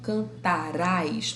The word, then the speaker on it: cantará: Quando é o futuro do presente, esse rá e esse ré vai ser tônico. Eu cantarei. Tu cantarás. Olha onde está a sílaba tônica. Está no rá.